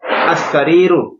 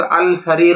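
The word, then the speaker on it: السرير: জিদারুন একটি দেয়াল আল জিদারু দেয়ালটি সারির একটি খাট আসারির খাটটি এখানে কিন্তু আল সারির উচ্চারণটা ভুল আসার খাটটি মাদ্রাসাতুন একটি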